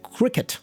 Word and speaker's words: Cricut: I've I've learned that it's called cricket, or at least this is how they pronounce it on the German channel.